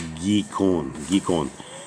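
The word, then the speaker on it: Gihon: And the name of the second river is Gikon, I think as they say it. And how did they say it right here? It's Gikon.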